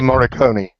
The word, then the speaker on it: Morricone: Forgive me if I butchered his name. Ennio Morricone.